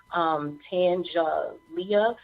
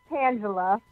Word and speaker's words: Tangela: So again, we are going to bring to the show now Tangelia. I hope I'm pronouncing your name right. Are you on the line? Hi, yes, it's Tangela.